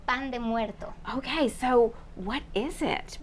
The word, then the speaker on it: pan de muerto: Pronounce it for me the Mexican way. It's called pan de muerto.